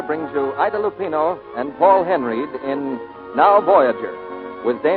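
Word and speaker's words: Henreid: in many a day he pronounces his name Paul Henry he and Ida Lupino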